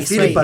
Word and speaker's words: Philipa: por você ler da Philipa Perry. É Filipa, né? É uma mulher.